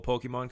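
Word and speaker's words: Pokémon: tell you hate it cuz you pronounce it pokemons how do you pronounce it Pokemon welcome okay it's like seven syllable whatever it's Japanese no oh come on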